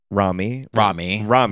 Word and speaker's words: Romy: Rami. Like Tommy.